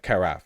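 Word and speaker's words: carafe: and tall is that is that a Cara is that what it's called am I pronouncing it correctly carf oh okay carf gotcha petroleum and national uh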